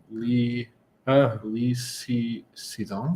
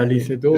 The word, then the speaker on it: Lee Sedol: with, and I might even get this name wrong, is Okay. Li Xizong. Yeah, Lee Sedol, Is that yeah, correct?